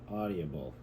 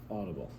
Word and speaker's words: audible: doing too much yep I seen the eye and I started making sounds for the eye in there you were adding it an extra syllable okay inflammable what did